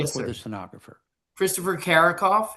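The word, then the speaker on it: Carickhoff: Could you please state your name then spell it for the stenographer? Christopher Karakoff.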